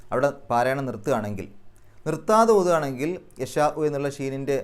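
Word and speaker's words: يشاء: നിർത്താൻ അപ്പൊ ചെറിയൊരു ഇ എന്നുള്ള ശബ്ദമേ കേൾക്കുകയുള്ളൂ അങ്ങനെ യശാഹ് എന്ന് പറഞ്ഞ് നിർത്തുകയാണെങ്കിൽ ആ ഷീനിന്റെ നീട്ടൽ അപ്പൊ മദ്രി ആയിട്ട് മാറും ആറ് അക്ഷരങ്ങളുടെ ദൈർഘ്യം വരെ വേണമെങ്കിൽ നീട്ടാം അവിടെ പാരായണം നിർത്തുകയാണെങ്കിൽ നിർത്താതെ ഓതുകയാണെങ്കിൽ യശാഉ എന്നുള്ള ഷീനിന്റെ ആ നീട്ടൽ നാലോ അഞ്ചോ അക്ഷരങ്ങളുടെ ദൈർഘ്യം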